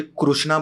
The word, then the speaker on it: कृष्णा: Last चीज जाते जाते सिर्फ एक मनीष ही है जो मुझे कृष्णा बोलते हैं। हाँ। वैसे कृष्णा ही है प्रोनाउंसिएशन, वो हाँ।